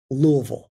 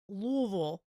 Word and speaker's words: Louisville: do you pronounce it say it like you've just swallowed the bourbon uh and it's Louisville Louisville Louisville Louisville that's how